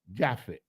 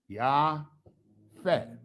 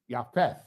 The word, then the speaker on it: Japheth: So we're going to go into the brother who the Bible calls in English Japhet. In the Hebrew, his name is Japheth. Yafet. Yafeth. That's it in Hebrew, and it's spelled like this.